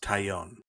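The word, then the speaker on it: Taillon: It's pronounced Tyion.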